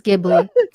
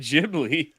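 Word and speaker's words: Ghibli: care I don't Careo actually said it right It's gibli let's go get out of here where'd she come from I didn't say he said it wrong I just said jibli I think the boy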